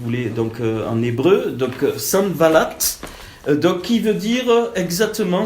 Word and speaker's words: Sanballat: Je vais le prononcer si vous voulez donc en hébreu. Donc Sanballat.